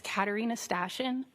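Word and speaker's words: Katarina Stashyn: My name is Katarina Stashin. First name is spelled K A T A R I N A.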